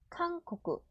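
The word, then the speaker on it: 韓国: 한국은 카응코쿠, 칸쿠쿠. 범위는 하은이, 한이. 이런 식으로 한 글자씩 읽어갖고 발음을 붙이면 돼요.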